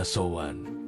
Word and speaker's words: Samhain: Mereka punya sebuah festival kuno yang sangat penting, namanya Samhain Cara, bacanya Samhain.